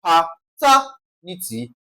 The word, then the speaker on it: paternity: Now, according to the rule, ty is the first syllable from the last. Ni second syllable from the last, and then what now? Ter third syllable from the last, that's what now? Pa-ter-ni-ty. So, I'm going to stress ter.